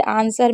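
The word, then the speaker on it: answer: जैसे आंसर में नहीं पढ़ते हैं, सॉर्ड में नहीं पढ़ते हैं, टू में नहीं पढ़ते हैं।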